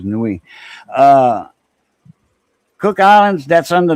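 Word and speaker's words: Niue: Uh, Cook Islands Nation, a ruling nation and Cook Islands and Newi. N I UE. I pronounce it as Newi.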